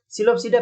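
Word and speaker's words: Psilopsida: सिलोपसीडा आ गया, सिलोपसीडा P silent में, सिलोपसीडा में सिलोटम आ गया, सिलोटम ये चीज याद रखना, सिलोटम आ गया।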